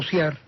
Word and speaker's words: ciar: Y después hay un tercero, que es el verbo ciar, ¿verdad? Que es lo contrario de bogar, y que no habría manera de pronunciarlo de otra manera. Por consiguiente, hay que disolver el diptongo a fuerza.